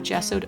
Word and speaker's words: gesso: case uh I have gessoed over this am I pronouncing that right yeah it's a hard G I think gesso um as my base